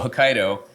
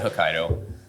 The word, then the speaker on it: Hokkaido: But yeah, the dough is, so Hokkaido, which I get hockey dough, like people mispronounce it all the time. So thank you for pronouncing it correctly. It's pretty phonetic.